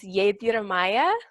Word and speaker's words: Yedyamya: And so the way that it's truly pronounced is Yedyamya Star Light.